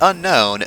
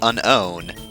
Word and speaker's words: Unown: No, not the unknown. There's no K there. These are the Unown.